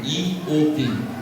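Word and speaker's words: איוב: palavra jovem do hebraico, que é Iob, Iob, esse B é mudo.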